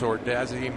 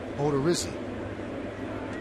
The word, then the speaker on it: Odorizzi: Myers, Ordazzi, Montgomery, and Leonard, or Dizzy. Odorizzi. So I butchered it twice, huh?